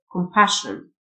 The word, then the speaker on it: compassion: SSIO تنطق شه Compassion.